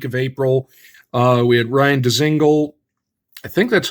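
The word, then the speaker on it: Dzingel: We had Ryan Dezingle. I think that's how it's pronounced. Dezingle.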